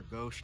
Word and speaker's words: gauche: Maybe someone was listening to me talking about how granite countertops are gauche now. They are gauche actually. It's called about quartz. Pronounced goosh, you guys.